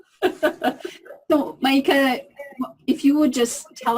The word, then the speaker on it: Maika: McHenry and I'd like to start off with first of all am i pronouncing your name correctly is it mica it's my gun mieka no mica if you would just tell us a little